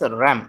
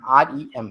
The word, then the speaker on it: rem: Then there is another unit of measurement which is known as RAM, REM, RAM. It is spelled like that only.